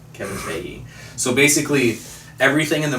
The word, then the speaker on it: Feige: It took me a long time to in pronounce that right. producing. It's Feige. Kevin Feige.